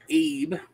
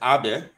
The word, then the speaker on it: Abe: Oh, so in Japan, they pronounce it Abe? Yeah, but it's spelled A-B-E, just like...